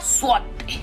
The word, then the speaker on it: złoty: Se pronuncia złoty.